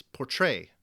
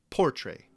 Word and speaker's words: portray: the word is located think of the word portray here you'll find that the first syllable poor is unstressed while the second syllable Trey is stressed it's portray not portray now the best way